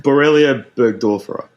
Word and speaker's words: Borrelia burgdorferi: microbe, the spiral-shaped bacterium that Shane will now pronounce for us. Now I'm under pressure. Borrelia burgdorferi.